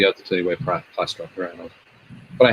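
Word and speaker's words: Plastruct: Also, Thomas says, is it Plastruck? Plastruck? Is that the way to pronounce it? Yep.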